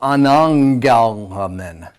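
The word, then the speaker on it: ἀναγγέλλομεν: Yeah, so you've got your gamma nasal in there. So anangalamen. Right? The first gamma will sound like an N.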